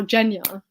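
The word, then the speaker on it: Genya: you guys think of gen or jenya as it's pronounced beautiful beautiful is better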